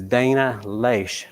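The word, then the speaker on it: Dana Loesch: I'll listen to is Dana leash and I believe that's how you pronounce her name she has a show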